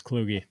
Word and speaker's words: Kluge: It is Kluge. Yes. I never knew that. That shows how much I've actually. Rhymes with Loogie.